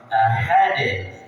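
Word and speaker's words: أحد: Kalau aha berarti sudah masuk ke H besar. Ahad salah. Tapi ahad. Ha ha ha ha hanya hannya haal.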